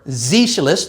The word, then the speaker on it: Sozialist: From national, you get na, and from socialist, or Sozialist, the way a German would pronounce it, you get the Z, not C.